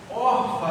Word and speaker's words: Orfa: Uma com Ruth e a outra com Orfa, é assim que pronuncia, né?